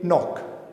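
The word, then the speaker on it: knock: अब देखिए, ये तीनों वर्ड्स जब हम प्रोनाउंस करेंगे तो इसमें के साइलेंट होगा। हम इसे पढ़ेंगे नो, इसे पढ़ेंगे नाइफ और इसे पढ़ेंगे नॉक।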